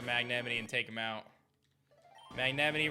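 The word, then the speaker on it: Magnemite: Magnemity rhymes with Yosemite.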